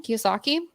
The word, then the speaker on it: Kiyosaki: Kiyosaki.